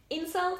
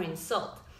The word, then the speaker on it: insult: the stress in words insult or insult well both are correct but one is a noun and the other one is a verb now is usually have the first syllable stressed and the verbs the second for example you can